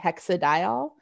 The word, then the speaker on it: hexadiol: But a lot of times when we say it, we don't pronounce the N. So we just say hexadiol.